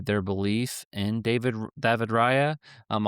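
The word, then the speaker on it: Raya: belief in David David Rya. Um, I'll pronounce it in the in the way that the Spaniers do, but I think that's huge and I think that does give them a chance, you know.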